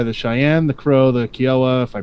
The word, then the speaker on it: Kiowa: 1500, followed by the Cheyenne, the Crow, the Kiowa, if I pronounced that right. Kiowa.